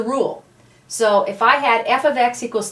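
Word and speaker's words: f(x): y out for an f ofx and this is pronounced F ofx okay it is not a multiplication symbol in the past we've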